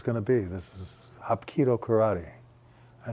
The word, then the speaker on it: Hapkido: And I'm thinking to myself, Hapkido, what could that possibly be, Hapkido? Later I found out that the way you pronounce it is Hapkido.